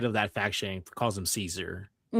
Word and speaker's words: Caesar: Apparently, the Romans would have pronounced it Kaiser.